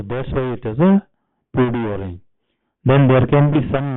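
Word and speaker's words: peau d'orange: Actually the pronunciation is PUD orange, it's not PUD orange.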